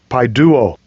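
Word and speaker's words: παιδεύω: I'll get the pronunciation. Strong's G 3811. Paiduo.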